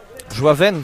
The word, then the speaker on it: Joavin: Joaven, pourtant ça s'écrit Joavin, hein.